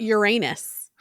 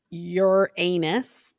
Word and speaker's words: Uranus: you say Uranus or you say Uranus and then you're saying urine. It's not as bad as Uranus, but it also kind of sounds everyone knows what you're doing in that in Uranus. Like okay, you're just avoiding saying Uranus. I think the real way to say it is like Uranus like if you're Greek or something.